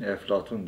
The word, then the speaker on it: Eflatun: Bizim hani Arapçada P harfi olmadığı için Eflatun diye telaffuz edilen filozof.